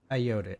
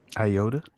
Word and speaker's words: Ayoade: the IT crowd's Richard Ayoade. How do you say his name? Iota. No, Ayoade.